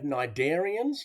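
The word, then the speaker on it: cnidarian: bum all right then we have narian now it's got a silent SE at the front and Nigerians have stinging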